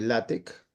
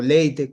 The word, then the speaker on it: LaTeX: Ya Moisés nos contará de qué trata y luego hablar un poco de latec, bueno, o leite como se quiera pronunciar. Bueno, usualmente se conoce como látec o látex que algunos pronuncian.